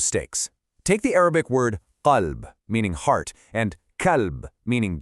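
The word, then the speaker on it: قلب: But if you mispronounce that very first letter, the deep cough by producing it way too far forward in your mouth so it sounds like a calf, you've completely corrupted the meaning.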